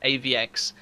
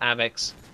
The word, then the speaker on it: AVX: also been informed that it is De AVX it is not ax as I have been